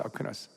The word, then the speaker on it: 아퀴나스: 한국 발음은 아퀴나스인데, 토마스 아퀴나스.